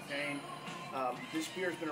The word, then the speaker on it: Duquesne: of people look looks like it some people mispronounce itni but it's Duane um this beer has been around actually a